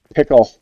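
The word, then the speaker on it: Pikel: Ivan and it's spelled P I K E L, but it's Ivan and Ivan and Pickle.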